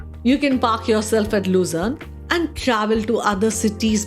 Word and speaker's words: Luzern: Finally, the last place that I can never stop talking about is Luzern. This is how it is pronounced the German way, being located at the German-Swiss side.